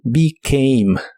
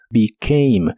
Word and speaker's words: became: En el pasado es became, es un verbo irregular, en este caso la E también se pronuncia como I, pero la A se pronuncia como EI, y la E del final tampoco se pronuncia.